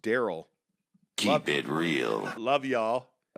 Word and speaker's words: Darrell: says, not sure why my parents spelled my name like that, but it's pronounced Daryl.